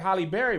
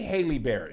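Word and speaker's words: Halle: The way But Haley that's not spells how it's hers pronounced. here. People always say Haley like Holly Berry, but we don't say Haley Berry.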